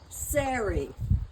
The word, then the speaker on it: Sarah: Sarah, for instance, they pronounced Siri.